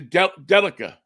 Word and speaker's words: Delica: It's a Delica, I think is the way you pronounce it.